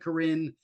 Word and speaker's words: Corinne: It looks like Corinne, but it's pronounced Corinne, and her nickname is Connie.